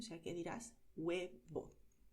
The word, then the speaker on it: huevo: Huevo. La letra H en español, al principio de palabra, se escribe pero no se pronuncia.